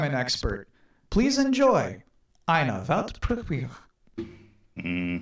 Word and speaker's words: Weltpremiere: How do you say world premiere in German? It's actually Weltpremiere. Yeah, Pretty similar, right? I think I can do that. Yeah, do it. Weltpremiere.